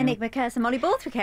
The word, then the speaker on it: Enigmacursor mollyborthwickae: So there's a couple of really famous formations, the one that I'm going to say its name wrong now. Enigmacursor mollyborthwickae.